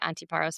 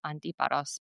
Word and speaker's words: Antiparos: Well, most people say Antiparos, but the Greek way is Antiparos because of the accent being on a different letter.